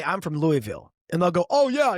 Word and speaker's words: Louisville: It's Louisville. It's not Louisville.